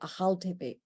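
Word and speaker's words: Akhal-Teke: in the world the achal teke i know there's a k americans pronounce it but in that area the k is more guttural a haltepe they come from turkmenistan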